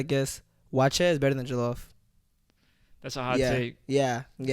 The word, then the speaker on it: jollof: You made me try jollof, and that shit was Jollof? fire. Come Yeah. on. Tell that motherfucker. Wait, how do you pronounce it?